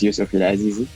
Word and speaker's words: Youssouf EL Azizi: So my name, to pronounce it correctly, my name is Youssouf EL Azizi.